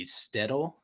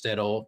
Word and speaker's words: shtetl: the story of like a Jewish let's say shtetl I learned how to pronounce it before to make sure I got a right so Jewish shtetl kind of in a fantastical version of 19th